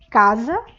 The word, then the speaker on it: casa: atrás com o z casa o s da palavra casa tem o som de z então se eu for